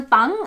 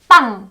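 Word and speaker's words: 빵: فالكلمة دي يعني مشتقة من اصل فرنسي، فاصبحت كورية واصبحت تنطق بانغ.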